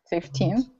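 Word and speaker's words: fifteen: everyone should do that please stress the second half of the word and pronounce it very cleanly and with a slight rise in Pitch so that we can all tell the difference between 50 and 50 gota be careful of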